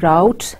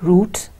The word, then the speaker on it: route: The fourth word can also be pronounced as route and root.